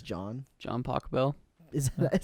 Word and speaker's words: Pachelbel: John Pachelbel. Is that how you say it? Pachelbel, not Pachelbel.